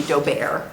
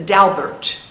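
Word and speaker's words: Daubert: and pronounced Bert okay the French would be doar but the dalbert as the Americans say the dalbert decision the dalbert decision um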